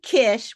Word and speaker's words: Kish: And uh Cindy Kish, which rhymes with wish, is my guest today.